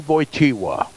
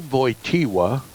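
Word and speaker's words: Wojtyła: the creek christened him they call it Carl boy tiwa better known to you probably as Pope John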